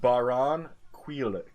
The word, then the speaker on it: Barranquilla: It's pronounced Barranquilla.